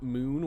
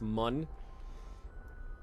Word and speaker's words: Mun: bun in this game it's not moon with an umlaut it's Mun but that's okay 350